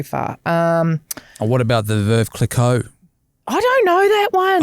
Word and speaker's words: Clicquot: Clicquot. Whatever. How do you say Veuve it? Clicquot. Clicquot, yeah.